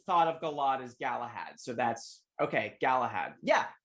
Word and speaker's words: Galahad: to say it differently it's the same word galahad thank you yeah yeah galad galahad galahad gallahad galahab galahad yes galahad okay okay